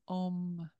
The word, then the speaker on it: Om: And then this is the first syllable is om, like the sacred sound in Sanskrit as well.